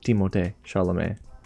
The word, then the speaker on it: Timothée Chalamet: Wilder, Johnny Depp, and Timothée Chalamet, or Timothée Chalamet. That's seriously how you pronounce his name properly.